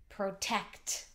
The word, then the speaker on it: protect: The next one is protect. Protect. Protect. That has that tricky sound at the end. K-t.